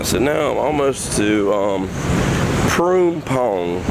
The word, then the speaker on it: Phrom: Yeah, so now I'm almost to Phrom is how you pronounce that.